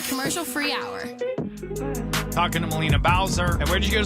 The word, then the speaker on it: Melina Bowser: music the spotlight today with us is uh molina bowser i'm pronouncing your name right yes thank god i